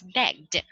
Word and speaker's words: begged: Does it belong to TDFHKPSEX? Of course not. Okay, so you're right. That's why it's pronounced as begged.